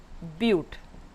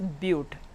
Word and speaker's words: but: 4 bute. This is not but, you have to pronounce it as bute.